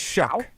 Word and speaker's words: Shough: It's Shuck. Tyler Shuck. Shuck. So how does that end? CK? What is it? A silent G? Yeah, what Google AI is saying it's pronounced like the word shuck, like, oh, shucks. I'm from Iowa. Like you're shucking corn.